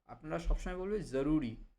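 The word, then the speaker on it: ज़रूरी: আপনারা কখনোই এই শব্দটি বলার সময় বাংলা উচ্চারণ জরুরি বলবেন না। আপনারা সবসময় বলবেন জরুরি। জরুরি।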